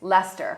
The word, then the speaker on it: Leicester: things like, I know how to pronounce it now, but when I first came here, Leicester Square, Yes. but it's Leicester.